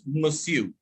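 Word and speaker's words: monsieur: sir for in french all right it is pronounced as masu okay go ahead also landon had met the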